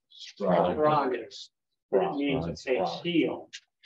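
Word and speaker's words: σφραγίς: Here's a sigma and a p and a rho, actually. All three of those are, it's a consonant cluster, but they're all pronounced. Spragus. Spragus.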